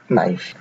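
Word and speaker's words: knife: letter কে এর নিয়ম কোন শব্দে কে এর পরে এন থাকলে সেই কে উচ্চারিত হয় না যেমন নো কিংবা নাইফ এই শব্দ দুটিতে লক্ষ্য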